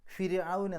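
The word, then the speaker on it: فرعون: ഇപ്പോൾ കനമില്ലാതെ ര് എന്നാണ് പറയേണ്ടത്. ഫിർഔൻ എന്നാണ് പറയാം, ഫിർഔൻ.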